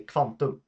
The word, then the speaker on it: kvantum: If I want to say quantum in Swedish, I would say kvantum. KV, kvant, kvantum.